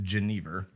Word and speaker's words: Geneva: We say it Geneva, and that's been kind of the working title or the working version of that we've worked with since the beginning.